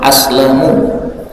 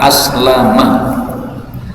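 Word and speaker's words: فأسلمُ: Kemudian kata-kata fa aslam ini mimnya di damah aslamu yang artinya saya selamat dari gangguan setan. Sebagian orang membacanya dengan fathah. Aslama.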